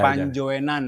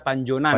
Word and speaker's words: Panjoenan: Jadi, Guys, ejaannya masih ejaan lama Pak ya. Iya. Panjoenan. Dibaca Panjoenan. Panjoenan.